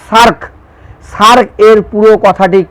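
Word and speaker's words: SAARC: পররাষ্ট্রনীতির প্রধান বৈশিষ্ট্য কি S double A আর সি উচ্চারণটা হবে সার্ক সার্ক এর পুরো কথাটি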